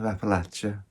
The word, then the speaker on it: Appalachia: in the mountains of Appalachia that's how it's pronounced here by the way not Appalachia Appalachia and it's Christmas Eve